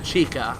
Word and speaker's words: Chykka: think it's called Chaka I think that's how you say it I know a lot of people have called it chika I was just like no that's chica so at least that's how I pronounce that I've always pronounced it Chaka this boss is kind